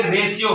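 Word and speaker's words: ratio: हैं अनुपात क्या है इसको अंग्रेजी में बोलेंगे रेश्यो क्या है आर ए टी आई ओ तो होगा रेशों एस हमारा साइलेंट है अर्थात में उसकी धूनी नहीं आई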